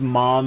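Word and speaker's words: Maam: So here's Ma'am. In Japan, her name is pronounced Mom, and so I've always pronounced it that way because we watched it subtitled first.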